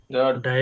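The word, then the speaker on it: die: ভাই কাইন হয় হ্যাঁ ডাই এর ক্ষেত্রে কাই নাই হুম ডাই না ডি এখনো যদি ডাই বলেন তাইলে কেমনে হইলো ডি বলবেন উচ্চারণ হইলো ডি নট ডাই এই ডাই মানে হইলো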